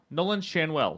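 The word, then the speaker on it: Nolan Schanuel: William contras uh the third one Nolan shanwell Nolan shanwell that's how you pronounce it of the Los Angeles Angels this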